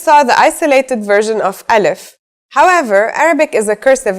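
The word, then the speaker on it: ا: begin we start with alif so what sound does this letter make that's easy it's just like it's English counterpart a in the word Apple and if it's very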